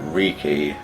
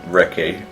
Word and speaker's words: Riki: I was giving it like an RPG inflection, like Riki. No, it's just Riki.